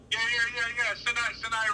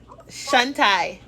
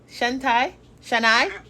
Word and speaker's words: Shanai: Am I saying it right? Yeah. Shanai Ramsey, yeah. So let me tell you, Shantai. Shanai.